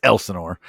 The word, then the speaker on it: Elsinore: It's Elsinore, and that might be a region. It might be a regional thing, but it's gonna be fun, man. And I'm from the region that didn't know what Lake Elsinore was until you fucking said where it was.